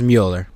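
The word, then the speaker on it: Müller: Greg Mueller or yeah I think it's pronounced Mueller now the reason I'm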